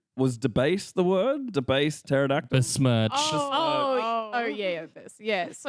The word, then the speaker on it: pterodactyl: They're like, oh, like why can't you hear a pterodactyl go to the toilet because the P is silent?